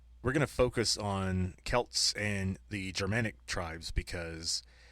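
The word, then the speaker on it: Celts: But the original word was a hard C.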